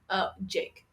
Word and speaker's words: JVKE: Jake. It's pronounced Jake.